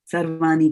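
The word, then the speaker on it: sarvāṇi: And you were able to pronounce this ani. So when we don't pronounce ana and we slip in an n in its place, like sarvani karmani, that is being lazy in pronouncing. So that's why I say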